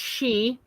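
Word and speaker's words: sidhe: It's actually pronounced she.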